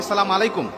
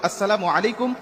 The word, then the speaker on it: আসসালামু আলাইকুম: আবার অনেকে বলি সালাম আলাইকুম মানে আল্লাহর গজব তোমার উপর পতিত হোক। বিভিন্ন রকম অর্থ বিকৃতি করে আজকে আমরা সালাম মানুষকে দিচ্ছি, দেওয়ার কারণে আজকে আমরা সালাম কাঙ্ক্ষিত ফলাফলগুলো পাচ্ছি না। এজন্য কখনো আমরা এইভাবে সালাম দেব না, সালামের উচ্চারণটা আমরা সঠিকভাবে দেবো। আসসালামু আলাইকুম ওয়া রাহমাতুল্লাহ বলে আমরা সবাইকে সালাম দেওয়ার চেষ্টা করব।